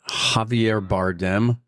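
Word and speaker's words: Javier Bardem: Javier Bardm. Uhhuh. Did I pronounce that right?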